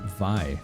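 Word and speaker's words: Vay: Vi. I have that, too. I didn't know that's how you pronounced it. Yep. Vi.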